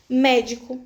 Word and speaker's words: médico: Todas as proparoxítonas são acentuadas, senão você não ia conseguir trazer essa sílaba mais forte, você não ia ter como ler corretamente se não existisse esse acento, tá?